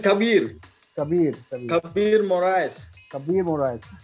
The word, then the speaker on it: Khabir: Is it Khabir or Khabir? Where Baba? It is Khabir.